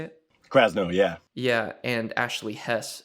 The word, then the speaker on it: Krasno: Krasno, yeah.